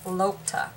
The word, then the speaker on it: lokta: them online but anyway this paper is called lotta lotta paper or locta paper i think she pronounced these cells woman pronounced it lopta and it is i